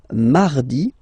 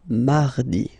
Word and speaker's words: mardi: Then mardi, mardi. So you can hear that you don't pronounce it that strongly, this R. Mardi, mardi, okay? You don't need to go too deep like mardi.